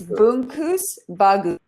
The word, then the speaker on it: Bungkus Bagus: So it's Bungkus, Bagus, which means good package.